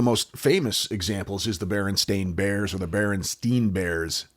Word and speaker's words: Berenstain: Well, the truth is that their last name is actually Berenstain Bears, Stain, Berenstain Bears. It was never Berenstein or Berenstein Bears, ever, nor was it ever spelled Stein.